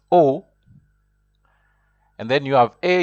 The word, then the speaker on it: au: see there in red Au which is pronounced o and then you have